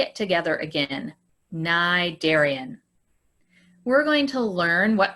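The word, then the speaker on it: Cnidarian: my favorite one it doesn't even sound like it's spelled you don't say the c let's say it together again naidarian we're going to learn what characteristics a nigeria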